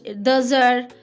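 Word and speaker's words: deux heures: So you'll say il est 1 heure, or it's 2 heures. X and H combined, it will be Z.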